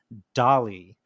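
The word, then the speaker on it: DALL-E: uh is a thing called Dolly kind of like Salvador Dolly but spelled like Wall-E with a d so it's Dolly so d a l l- e Dolly right okay and this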